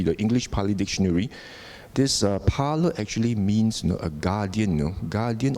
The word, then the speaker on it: pala: you know actually The Parlor the p-a-l-a the a actually has got a long a you know local of